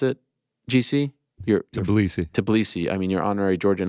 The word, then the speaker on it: Tbilisi: And then here's further scenes in Georgia, in the heart of, how do you pronounce it, GC? Tbilisi.